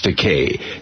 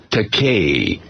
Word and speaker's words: Takei: know, for 40 years, Bill's been mispronouncing my last name, Takei, you know, and so I said, you know, I couldn't get it into his noggin that it was Takei, so I told him, it's Takei, I can toupee.